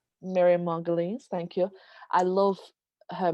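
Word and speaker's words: Margolyes: other side and i love them the miriam mark goyles i don't know how to say her last name miriam margulies miriam margulies thank you i love her mention there i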